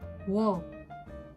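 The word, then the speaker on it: ㅝ: Pour les dernières lettres, nous avons Wo. Wo qui est OU plus O.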